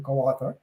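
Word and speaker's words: Kawartha: So, but the question more is, so you have brands like Quathar ice cream, Quathar. Did I pronounce it right?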